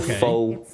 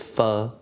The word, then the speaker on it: pho: So not pho, it's pho.